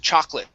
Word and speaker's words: chocolate: word here is pronounced chocolate so the o in this word is not pronounced it's silent it's chalk lit chocolate